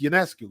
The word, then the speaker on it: Ionescu: Nope, it's UNESCO.